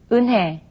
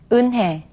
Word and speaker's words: 은혜: Okay, now when consonants other than ing or riul are combined with ye, then the sound changes from ye to e.